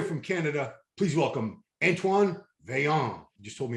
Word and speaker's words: Vaillant: all the way from canada please welcome antoine veyong you just told me how to pronounce his name right what's up antoine yeah